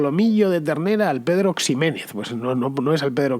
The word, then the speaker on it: Ximénez: la mancha' pero claro con esa equis pronunciada como j porque la equis tenía esa posibilidad en aquel entonces de hecho conoceréis a alguien que se apellide ximénez por ejemplo o lo habréis